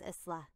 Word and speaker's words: Isla: My name is Isla. Thank you for helping me. İsla'ymış. Öyle telaffuz ediliyormuş.